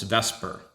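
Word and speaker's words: VSEPR: spelled right there but a lot of people call this vesper and this is going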